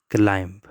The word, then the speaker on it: climb: क्लाइंब।